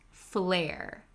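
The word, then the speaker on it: flair: stylish and unique so both of these words are pronounced flare you have a f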